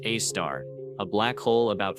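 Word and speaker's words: Sagittarius A*: The most famous example in our own galaxy is Sagittarius A, pronounced a star, a black hole about 4 million solar masses nestled in the crowded center of the Milky Way.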